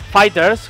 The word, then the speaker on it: FighterZ: nombre del juego pues según respuesta oficial de namco bandai es fighters como si fuera una es el final la z pues simplemente por dragon ball z pero no es giran